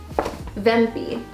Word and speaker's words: Wempe: We were walking around and there was another shop called Wempe, and it's spelled W-E-M-P-E. I believe it's a German company, so the W is pronounced with a V.